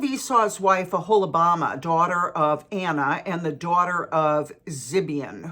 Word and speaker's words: Anah: Now, Anna is spelled A-N-A-H.